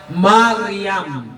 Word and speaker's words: Mariam: Mali rin yung documentary sa YouTube. Miriam ng Miriam. Hindi Miriam yan. Mariam.